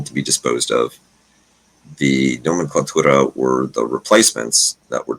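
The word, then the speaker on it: Nomenklatura: So Nomenclatura. Sounds like nomenclature.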